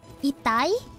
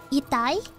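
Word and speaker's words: 痛い: Oh, when people get hurt in DP, don't say itai, not ita, itai.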